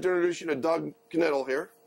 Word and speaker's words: Knittel: I'd like to introduce you to Doug Knittel here. He pronounces the K because he's a stubborn German.